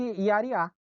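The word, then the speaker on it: ירח: Lua em hebraico, olha aqui o nome em hebraico aqui, ó, Lua, pronuncia-se Yariá.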